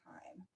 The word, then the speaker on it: thyme: I know that looks like thyme but it's pronounced thyme yes we're gonna need a little time is